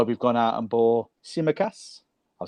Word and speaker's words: Tsimikas: And I think that's why we've gone out and bought Tsimikas. I've said it right. Tsimikas.